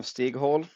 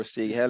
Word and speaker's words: Stighäll: just introduce yourself a little Yeah, so it's actually Stighäll or Stighäll in bit. Swedish pronunciation.